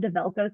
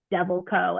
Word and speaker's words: Develco: The company was called Develco Solutions, and people mispronounce the name all the time, Carly. They were always like Devil Co.